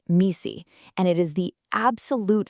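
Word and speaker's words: MECE: It's pronounced misi and it is the absolute foundation for clear thinking.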